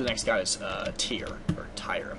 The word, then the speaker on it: Tyr: uh we supposedly the next guy is uh tier or TI I'm not sure how the to say his name it's tyr it's uh I believe it's freya's brother anyway